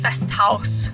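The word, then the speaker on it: Festhaus: also ate dinner at fest house and it's spelled the german way h-a-u-s house you have to say it that way best house and um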